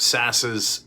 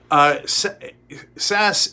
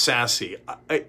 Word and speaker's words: Sasse: Sasse is spelled in a way that it could be pronounced sassy.